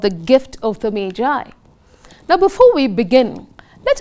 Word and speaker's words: Magi: Remember children, it's pronounced as Magi, not Maggie.